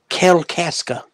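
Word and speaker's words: Kalkaska: Grandma used to live basically think of Alaska but with a K in front Kell Casa okay Teddy stop okay I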